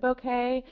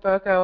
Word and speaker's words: bokeh: already, I'm sure, asking, isn't it bokeh? I think, according to the dictionary, it can be pronounced either way. So I started calling it bokeh a while ago, and I just went with it, but it is bokeh as well.